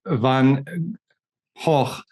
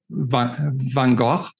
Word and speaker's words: Van Gogh: In German you would say Van Gogh, but you're still pronouncing the G. So in Dutch, you don't pronounce the G. So it's Van Gogh.